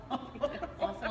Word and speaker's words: awful: Awful as in waffle, rhymes with waffle.